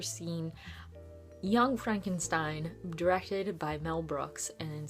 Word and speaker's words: Frankenstein: it begins with Frederick Frankenstein or as Frederick likes to pronounce it frank enstein because he wants nothing to